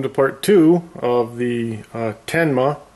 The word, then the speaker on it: Tenma: Well, welcome to part two of the Tenma. I've been saying it wrong all along because there's no I. Tenma 727745 true RMS.